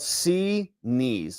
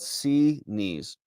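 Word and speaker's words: Xinis: Judge Zenus's Zenus' name is Greek and it's pres pronounced Z knees. Yeah, she says it's called C knees is how her clerk says it. It's called C knees.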